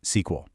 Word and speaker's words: SQL: And that language is SQL, which you'll almost always hear pronounced SQL. It was actually developed at IBM right after Dr.